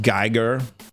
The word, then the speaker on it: Giger: Um, it's pronounced geer. It's not.